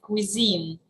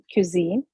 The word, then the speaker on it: cuisine: Serene has pointed out was mispronounced can you pronounce it right cuisine cuisine and another word uh buffet or Buffet depending